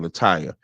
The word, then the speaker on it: Lataya: I haven't had a chance to go through the whole thing, but Lataya, it's spelled Lataya. So that's what I'm saying, Lataya.